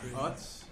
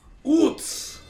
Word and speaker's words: Utz: It's not Utz. It's Utz! Utz! You gotta say it like a German.